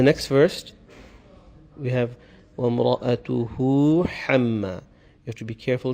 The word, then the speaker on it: حَمَّا: H sound, and then the ha, the coarse or the heavy H sound, and they come together here. So a person may have the tendency of mispronouncing them since they come together. So we have to be careful here. Is وَامْرَأَتُهُ حَمَّا. So hu, ha. First you have this light H sound, and it stretches